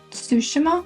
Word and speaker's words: Tsushima: I got into, I believe this came in 2019, Ghost of Tsushima?